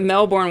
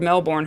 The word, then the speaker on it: Melbourne: Prime Syndicate says, except that Melbourne was named after Lord Melbourne, who pronounced it Melbourne, not Melbourne.